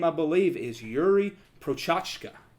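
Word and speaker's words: Procházka: And his name, I believe, is Yuri Prochazka. Prohaska.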